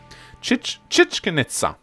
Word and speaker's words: Chichen Itza: of God the it sir shall come whoo chit chit can Itza okay that's how you properly pronounce it whoa all right that is amazing